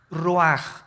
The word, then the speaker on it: ruach: El ruaj que se escribe r u a c h. Ruach en el hebreo y se pronuncia igual ruaj.